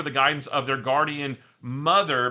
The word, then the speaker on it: MTHR: And under the guidance of their guardian mother, but it's spelled capital MTHR, but I guess it's mother, they discovered that they